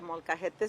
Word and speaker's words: molcajete: I'm going to use the old-fashioned blender here, the molcajete stone mortars that we sell here.